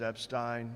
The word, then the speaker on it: Epstein: Uh, the pronunciation of my name is Epstein. If you forget it, there were three great Jews. Einstein, Epstein, and Frankenstein.